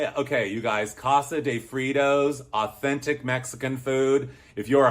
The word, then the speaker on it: Fritos: Fritos is a morph of 2 words, fried and tortillas, Fritos, fry-to. So I think that tells us we've been mispronouncing Fritos all of these years. Fritos should be pronounced Fritos. Just saying.